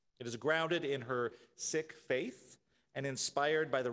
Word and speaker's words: Sikh: here in Indiana no the religion is pronounced sick spelled s-i-k-h you will often hear the Americanized pronunciation which is seek so you may hear either of those pronunciations the sick Faith arose in the